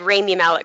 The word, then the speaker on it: Rami Malek: he mean Rhapsody and I said I said Rainey Malik cuz that's how his name is pronounced oh whoops yep from being a potential